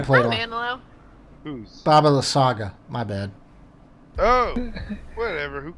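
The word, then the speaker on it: Baba Lysaga: Baba La Saga.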